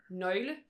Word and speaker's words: nøgle: it's an actual vowel with its own sound. So that's the O with the line through with it. the line through it. So it's pronounced so nøgle.